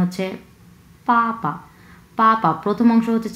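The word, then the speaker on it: 爸爸: এই যে বিটা দেখতে পাচ্ছেন, হ্যাঁ, ইংলিশ বি, এই বি হচ্ছে চাইনিজে আমরা উচ্চারণ করি হচ্ছে প। হ্যাঁ, প। সো এখানে বাবা বলার কোনো সুযোগ নেই, এটা অ্যাকচুয়াল উচ্চারণ হচ্ছে পাপা।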